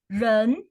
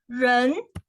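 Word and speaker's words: 人: okay okay first first character we see here we have a person a person here so it pronounces as run see the pin here run and is the rising pole so you go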